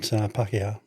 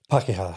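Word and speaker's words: Pākehā: How do you pronounce that again? Maori. Maori. Mm-hmm. Yep. And Pakeha.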